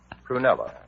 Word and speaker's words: Prunella: Prunella? With the accent on the prune.